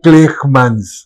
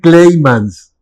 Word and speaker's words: Kleijmans: Que se escribe con C y con J. Entonces, la transcripción literal es Kleijmans. Claro. Pero la pronunciación es Kleimans.